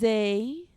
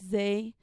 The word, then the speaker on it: Zzay: This is Zzay. Not, not, not, or however the fuck you misspell it. It's Zzay, out of East of